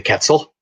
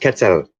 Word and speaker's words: quetzal: the bird, the quetzal, and I pronounced it Mhm. wrong. I called it the quetzal, and he was like, "The what?" And I'm like, "The quetzal. It's this bird." And I showed him. He's like, "No, no, no. It's pronounced quetzal."